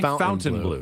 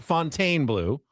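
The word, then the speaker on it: Fontainebleau: Fountain Blue. Not Fontaine Blue. Not Fontine Blue. Fountain Blue. The Fountain Blue. Fountain Blue. The Fountain Blue.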